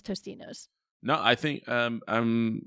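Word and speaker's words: Totino's: pronounce the name wrong I think it's totinos but everybody calls it Tostinos what what idiot is saying Tostinos there's no s in there it's Totino pizza rolls the Totino pizza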